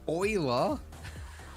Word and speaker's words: Euler: looking for rotate Euler is that how you pronounce that word Euler Euler wow Euler Oiler Oiler Leonard Euler Leonard Oil that's